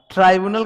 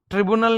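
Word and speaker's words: tribunal: ट्राइब्यूनल का pronunciation ये होता है। ट्रिब्यूनल नहीं होता, ट्राइब्यूनल होता है, ठीक है।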